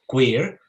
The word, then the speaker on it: cuir: Spanish language and so we decided to translate it phonetically as as you hear it queer but in with the Spanish version which is c-u-e-r in order to also